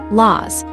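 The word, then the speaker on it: لوز: In some parts of the Levant and North Africa, it is pronounced laz, which is very close to its Aramaic origin.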